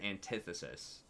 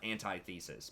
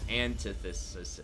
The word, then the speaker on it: antithesis: thesis and an antithesis it's not anti-thesis because there are more syllables in it thesis it gets pronounced that way because there are two syllables antithesis antithesis um as four syllables so it changes the way that the word gets pronounced I mean really none